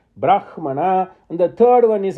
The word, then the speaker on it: Brahmana: So, Samhita, Brahmana, we now know the correct pronunciation. Brahmana, and the 3rd one is Aranyaka.